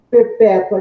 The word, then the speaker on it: perpétua: Então, note que a posição da sílaba tônica na palavra, ela altera tanto a acentuação, a posição da acentuação, né, dos acentos, como a sua classe gramatical.